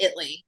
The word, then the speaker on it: Italy: grew up in Italy Texas we call it Italy um 2,000 people so is it Italy or Italy it's spelled Italy but we pronounce it Italy yeah kind of like f to if you're